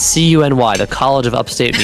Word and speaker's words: CUNY: It's pronounced CUNY, apparently.